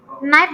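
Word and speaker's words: knife: terus wrong w-nya hilang kalau Naif berarti k-nya hilang karena ngucapkannya kan tidak knya enggak dipronounce ya Jadi tidak keif tapi Naif gitu ucapannya jadi dia maunya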